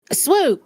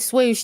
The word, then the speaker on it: Swoop: My thing, just swoop. Oh my God, I said swoosh, didn't I? Oh God, Swoosh. It's Swoop.